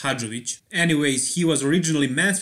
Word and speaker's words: Hadzovic: category and yeah his name is not static head zoic it's sonic had 'rich originally so he's from